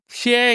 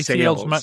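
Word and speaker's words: Sayles: of, it's, you know, Shea, you know, the writer, that's how it's pronounced, isn't it? He obviously knows his stuff. Sales. Sorry, Sales, my fault.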